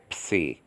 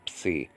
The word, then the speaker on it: psi: So just say psi, psi. Just practice oops a lot. Oops, and you'll get the psi.